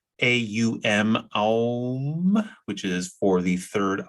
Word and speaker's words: om: we have the seed sound of om which is pronounced a um which is for the